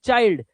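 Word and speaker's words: child: के बाद एलडी, एलडी, चाइल्ड, इसे चिल्ड मत पढ़ लेना, ये चाइल्ड है।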